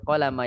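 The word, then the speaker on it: قلم: Tashtaril qalama minal maktabah. Tashtariul qalama minal maktabah. Nah, sebagian barusan saya dengar ada yang memanjangkan lam pada kata qalam. Diperhatikan, lam di sini pendek.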